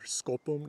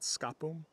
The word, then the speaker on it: skopum: Ver skopum, notice we've got that U mutation. A U will always change an A and the preceding syllable into an O hook. So ver skopum, not skapum.